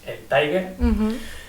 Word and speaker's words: El Tiger: Tiger, como se escribe, no es Tiger en inglés, es El Tiger, que bueno, creo que